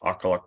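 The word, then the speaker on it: Aqqaluk: pits um kinetic and Main pit and that's pronounced aqualuc and Pollock is underground so those are NANA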